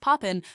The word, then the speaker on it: POPIN: POPIN, pronounced Poppin, serves North Florida.